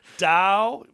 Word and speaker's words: Dow: company dupont demours uh dupont do nemours properly pronounced dao it used to be dial chemical now it's just dao ppg enterprises are you familiar with some of